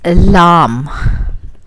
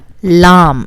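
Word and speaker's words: لام: Now we can go to our next one, which is lam. Lam, like llama or something. It has a similar sound as the English word L.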